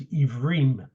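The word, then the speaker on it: עברים: It's Hebrew is a mispronunciation. The word is Ivrim, or Ever is singular, Ivrim is plural.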